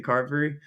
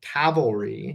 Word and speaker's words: carvery: to eat at the carvery? Yeah, sometimes. So they do a Sunday roast. Darren, I'm gonna start blaming you if I start pronouncing cavalry. It's carvery.